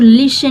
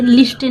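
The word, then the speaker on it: listen: to this story लिसन ये जो लिसन word है इसमें टी साइलेंट वर्ड रहता है ठीक है एस के बाद टी आया हो तो वह साइलेंट रहता है तो लिसन में हम लिसन पढ़ते लिस्टन नहीं पढ़ा जाता अगर आप लिस्टन बोलेंगे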